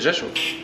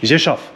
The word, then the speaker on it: Rzeszów: It's Rzeszów. Rzeszów. Rzeszów. Rzeszów. Okay, I've been mispronouncing it all morning. I've been saying Rzeszów. Nay, Rzeszów. Rzeszów. Rzeszów. At least I got the V right.